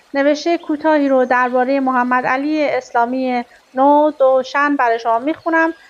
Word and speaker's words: ندوشن: ایران و تنهاییایش نویسنده محمدعلی اسلامی نود نوشن مخصوصاً من تلفظ نودوشن رو سرچ کردم و که بتونم برای شما کامل و به صورت درست و صحیح تلفظش کنم با اسپل کامل نو د شن لطفاً با من همراه